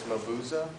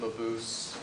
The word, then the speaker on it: Mabuse: It's the correct German version is Mabuse. Right. Although everybody pronounces it Mabuse, Okay.